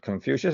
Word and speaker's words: Confucius: And that's offered by Confucius, Confucio. I'm certainly mispronouncing that, but Confucius is how we say it here.